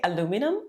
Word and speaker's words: aluminum: I love those kind of pronunciation stuff. Do you say aluminum or aluminium?